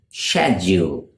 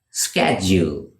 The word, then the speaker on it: schedule: In British English, they pronounce it schedule, schedule, whereas in American English, it is pronounced schedule, schedule, schedule versus schedule.